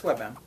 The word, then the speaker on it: WebM: so webm or webm or how do you pronounce that it's webm web but it's also webp the single picture